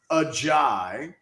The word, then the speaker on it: Ajay: Because there had been some thought that maybe it was Ajay based on something I'd seen in an Alabama video that had said that Ajay Hall had said specifically this is how he pronounces his name. But we went to people that would know, and it's Ajay.